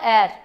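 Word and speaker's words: heir: How do you pronounce it? It's called air.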